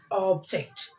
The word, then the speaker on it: object: Here with the two syllables, noun, stress the first syllable. Parents. Robot, butler, object.